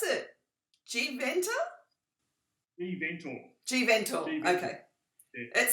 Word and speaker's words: GeVentor: do we pronounce it? GeVentor? GeVentor.